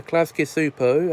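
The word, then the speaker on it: Klasky Csupo: thought I'd go back to 1991 to review klasky supos Nickelodeon classic Rugrats now cool with Rugrats is an animated children's TV series created by klasky super as I just said and yes that is how you pronounce the name for Nickelodeon First Aid on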